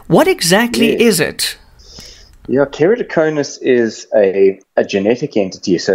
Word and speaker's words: Keratoconus: It's called Keratoconus. Dr. Dylan, how's it? Hey, Jan, you pronounced that perfectly. Well done. I don't hear anything vegetable about that pronunciation.